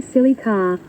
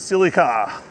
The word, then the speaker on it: Celica: said, "We say silly car." That's it. Silly car. My first car was a Celica.